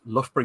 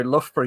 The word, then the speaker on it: Loughborough: say that you know loughborough university as loud as a place has the ough syllable in it twice pronounced two different ways it's like the worst